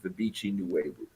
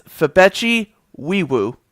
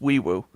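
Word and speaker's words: Febechi Nwaiwu: Uh, I had the time to do it and it's it's Fabeti Weiwoo. You don't pronounce the N. It's just weewoo.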